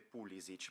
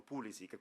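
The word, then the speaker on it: Pulišić: origini croate che ho, la corretta pronuncia sarebbe Pulisic. Poi però crescendo negli Stati Uniti tutti mi chiamavano Pulisic, quindi mi sono abituato a questa pronuncia. Ora qui so che siamo molto vicini alla Croazia, quindi mi andrà bene anche Pulisic, va benissimo anche quella pronuncia lì.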